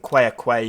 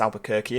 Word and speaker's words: Albuquerque: right there we go don't think choir Quay is quite how to pronounce it it's Albuquerque isn't it but uh but